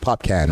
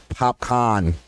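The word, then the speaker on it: Popcaan: okay here we go it's funny when people don't know how to pronounce his name and they're like i can because it kind of spells out like pop can right this with two a's and then somebody has to correct them popcorn they look at the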